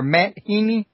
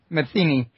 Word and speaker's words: Matheny: And I believe your name is pronounced Matheny or Matt Heaney? It's Matheny.